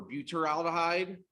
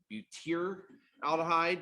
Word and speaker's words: butyraldehyde: carbon aldehyde pewter for butyraldehyde or buteer aldehyde depending upon just kind of how you pronounce that why so more often than not you know for one of these first four aldehydes you can see either combination being used and both would be considered acceptable so if you had